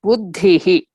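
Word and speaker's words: बुद्धिः: In all the visargas, they just keep a dot under H. But the vowel preceding it we have to pronounce in that way only. Buddhihi.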